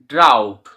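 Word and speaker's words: drought: তে সেরকমভাবে বাও প্লাও আর ড্রাউট ড্রাউট ডি আর ও ইউ জি এইচ টি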